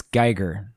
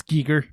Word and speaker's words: Giger: I believe it's Geiger. I think it is too, but I could be wrong. I could be wrong. I mean, I'm not trying to be a know-it-all on the pronunciation of anyone's name, as our listeners well know at this point. I've butchered many a name. No, it's Giger.